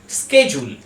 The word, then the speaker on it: schedule: এর উচ্চারণ আমরা করে থাকি সাধারণত শিডিউল বলে। এই ওয়ার্ডটার ঠিক উচ্চারণ হবে ব্রিটিশ ইংলিশে শেডিউল, শেডিউল, এবং আমেরিকান ইংলিশে এর উচ্চারণ হয়, ঠিক উচ্চারণ হয় স্কেজুল, স্কেজুল।